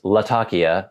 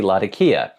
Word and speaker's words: Latakia: component in pipe Blends we say laka that's just the convention that's what has developed over probably hundreds of years of people enjoying this hobby so even though I know it is Latakia I'm not going to say Latakia oh this blend has a lot of burly Latakia it's just not the way we mostly say it we mostly say lakia and this delves into